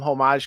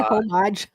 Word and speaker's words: homage: We did do some homage covers which people were into. That's Did you say homage? Homage. Homage. I thought you said the H. Don't pronounce the H on that one.